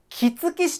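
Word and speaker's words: 杵築市: はい、これは杵築市と読みます。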